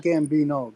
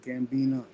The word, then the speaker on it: Gambina: not gamb pretty gorgeous not Gambino gambina yeah like uh like